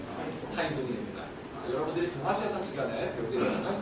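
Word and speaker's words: Thánh Tông: 성종 베트남식을 읽으면 재밌게 읽어요. 성을 갖다가 타인이라고 읽고요. 베트남으로. 그리고 이제 종자를 갖다가 똥이라고 했습니다. 합치면 뭐가 될까? 타인동이입니다.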